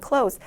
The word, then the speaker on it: clothes: 여기 나와 있는 clothes 단어는 th 모음 살짝 빼시고 그냥 clothes, 닫다 동사와 비슷하게 clothes라고 발음을 해주시면 되겠습니다.